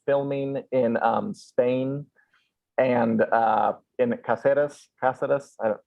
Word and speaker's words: Cáceres: It's House of the Dragon is filming in Spain and in Cáceres.